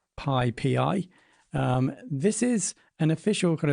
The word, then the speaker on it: PyPI: Now, I call it PyPI, although it's pronounced PyPI.